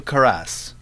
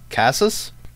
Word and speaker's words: Casas: experimental horror game by antonio caress did I pronounce that right no Casa cos Hass Casas Casanova games Antonio as